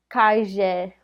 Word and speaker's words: calle: it's a double l so like for example calle they would pronounce Kashia or a really big